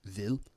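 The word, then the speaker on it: hvid: So there's a few words like this um like the word for uh white vil um uh h vv i d uh vil uh the h is not pronounced and the same thing here with voran and also uh vor uh vafor and vonoa.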